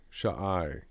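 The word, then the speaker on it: shai: idea um so s-h-a-i why aren't we just saying shy because because it because why are we if you look at the end if you look at the alphabet you'll see that the sh has an ah pronunciation to it so it's Shaw and then the I is the next character so shy shy okay so yeah all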